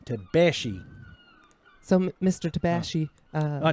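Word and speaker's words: Tabaxi: get that right yeah the x is like a she tabashi so mr tabashi uh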